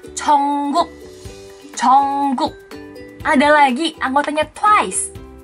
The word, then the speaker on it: Jungkook: Bukan Jungkook, apalagi Jongkok. Di sini mana lagi ARMY suaranya? Jangan salah mengucapkan nama bias kamu ya. Yang benar ucapannya adalah Jungkook.